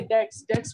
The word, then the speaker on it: debt: उसके फादर बहुत सारे डेट्स मींस कर्जा, जब आपने किसी से पैसे लिए हुए हैं और आपको वापस करने हैं तो उसे हम डेट बोलते हैं। बी इज साइलेंट हियर, ठीक है।